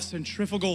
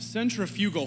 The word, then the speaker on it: centrifugal: There's this concept in physics that you and I have been mispronouncing since approximately 5th grade, and we call it centrifugal force. It's pronounced centrifugal force, but the schools have failed us, so here we are.